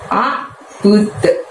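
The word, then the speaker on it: أَعْبُدُ: Dan ditutup dengan lafaz a'bud. Nah, pada saat mengucapkan tadi mulutnya tidak dibuka lebar, dan pada saat melafadzkan budnya tadi itu kita mantulkan ya suaranya bud, seperti ada suara d dengan ringan bud gitu ya.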